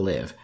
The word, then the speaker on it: Live: its english title school live I know it sounds weird but looking at the translation it's definitely pronounced live and not live is abstence oblate a